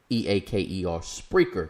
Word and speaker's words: Spreaker: Spreaker is spelled Spreaker. Spreaker, not speaker.